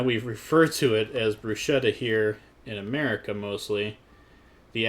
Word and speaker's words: bruschetta: about bruschetta is that it's actually pronounced bruschetta without an H in it. The H we kind of added in America here.